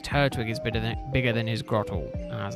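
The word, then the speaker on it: Grotle: And then this year I got him Grottle. I don't know if that's how you pronounce it, that's how I pronounce it. This is Grothel? No, it's Grottle.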